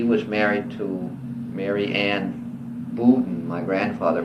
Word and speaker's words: Bowden: And Ambrose died in 1897, and he was married to Mary Ann Bowden. My grandfather pronounced it, but I pronounce it Bowden, B-O-W-D-E-N.